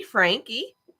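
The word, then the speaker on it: Franke: bad if not worse her name is Ruby Frankie that's how she pronounced it Frankie Larry everyone says it's Frank it's Frank with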